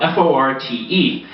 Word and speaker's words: forte: playing a musical instrument if you have a skill in something you have a fort in something so someone says to